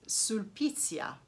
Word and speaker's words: Sulpicia: This is a Roman poetess, Sulpicia, probably, if you pronounce it in Italian. And but in Latin, I think it would be Sulpicia.